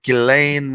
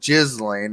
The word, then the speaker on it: Ghislaine: Ghislaine, yes, I can say it right. Ghislaine Maxwell, not Ghislaine, although, again, I think it's just a little more appropriate.